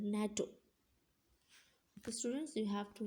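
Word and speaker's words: NATO: like natto and radar we will not call natto as n a t o yes we will call it as a whole world natto so students you have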